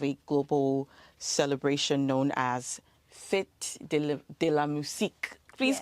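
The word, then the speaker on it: Fête de la Musique: a part of a global celebration known as Fit Deamus. Please correct me if I'm not pronouncing that properly. Can you help me with the pronunciation? demusk. Okay. Fet de la.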